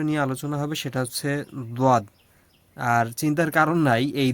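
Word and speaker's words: ضاد: মানে দজ এর মাঝামাঝি একটা উচ্চারণ মূলত আসবে।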